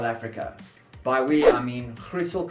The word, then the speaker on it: Griessel: By we, I mean Griessel Consulting, that is the Afrikaans way of pronouncing it if you're watching this from overseas, and Convexum Solutions, that's technologies.